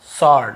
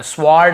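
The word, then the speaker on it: sword: अलग चीज है लेकिन यहां पे हमको डब्लू को नहीं पढ़ना स्वर्ड ऐसे नहीं पढ़ना व को नहीं पढ़ना केवल सॉर्ट ऐसे पढ़ना है हमें क्लियर हो गया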